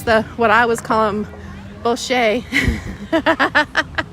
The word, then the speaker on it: bocce: Oh, and there's the, what I was calling bocce. Bocce. Y'all have trained this Kentucky girl to say it correctly. Bocce.